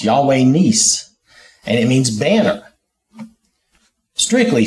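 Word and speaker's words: Yahweh Nissi: So I'm going with the way the guy pronounced it, which was Nis, Yahweh Nis.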